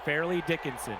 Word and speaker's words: Fairleigh Dickinson: I forgot how you pronounce that college. Farley Dickinson. Fairleigh Dickinson.